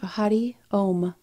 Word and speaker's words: Hari Om: And so the mantra is Hari Om, and we say Ha Ri Om.